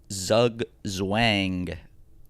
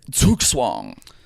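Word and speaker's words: Zugzwang: well, if it's German, it's ong.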